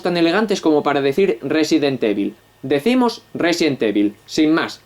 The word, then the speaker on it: Resident Evil: famoso con temática zombie pronunciado en inglés sería resident y bolt como lo decimos ni siquiera somos tan elegantes como para decir 'resident evil' decimos 'resident evil' sin